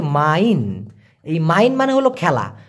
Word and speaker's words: main: কারণ MAIN উচ্চারণটা হচ্ছে মাইন।